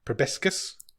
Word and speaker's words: proboscis: He's got a group of friends, and he describes I don't know how you pronounce this word. The monkeys with the dick faces. Proboscis.